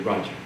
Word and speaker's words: Raja: often described as uh r-a-j-a Raja however it's pronounced in followers we say Roger right it means Kings